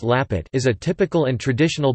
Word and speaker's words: lapet: Lampet or Lapet, pronounced Lapet, is a typical and traditional Batak snack from Tapanuli, North Sumatra, Indonesia.